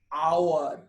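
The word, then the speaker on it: hour: আগে কিন্তু, যেমন অ্যান আওয়ার। কেন? এইচ এর উচ্চারণ এখানে হ হচ্ছে না, আ হচ্ছে, সেই জন্য অ্যান আওয়ার হলো এখানে। অ্যান অনারেবল ম্যান, এইচ এর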